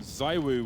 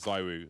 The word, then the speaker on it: ZywOo: and said it is ZywOo, not ZywOo. But that's not even true, though. I know, right? You hear the French commentators say it. Because the Y you pronounce E in French, so.